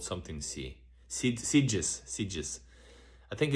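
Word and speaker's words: Sitges: Ah about sides. Your pronunciation is correct.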